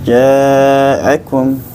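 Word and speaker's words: جاءكم: Hamzah dari aqsalq i dikeluarkan harus jelas jaakum ya Akum jaakum sini getarannya dengan getaran takrir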